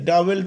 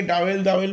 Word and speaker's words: dowel: আমি আবার কথাটা বলছি, উচ্চারণটা হচ্ছে DOWL, EL, ডাবল পিন। ওকে, অনেকে ডাবল বলে, কিন্তু উচ্চারণটা হচ্ছে ডাবল পিন।